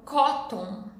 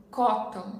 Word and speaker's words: cotton: Next example é a palavra algodão, que as pessoas falam cotton, cotton. Mas eu vou pronunciar como K. Então a gente tem o T, schwa mais N. T, schwa mais N, vai virar nasal, porque pausei o T e depois vou fazer o som nasal.